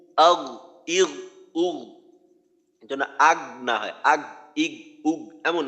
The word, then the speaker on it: أغنى: আচ্ছা আরেকবার বলি, মা আগনা, ما أغنى আচ্ছা আমরা এই মুহূর্তে যেটা বিশেষভাবে খেয়াল করব, যেন গইনের উচ্চারণটা কলকলার মতো না হয়।